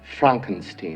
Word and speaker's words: Frankenstein: It's pronounced Frankenstein.